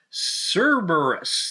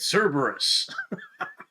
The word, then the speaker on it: Cerberus: you an unboxing of a cherrymap version of cerberus that's how you say it cerberus now the first thing you're gonna notice about